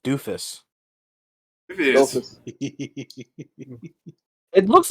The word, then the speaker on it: Dofus: It probably is pronounced doofus, although watching the anime 3 episodes of it the other day, I think they do call them dofus. They call them dofus. Dofus. That's how they pronounce it.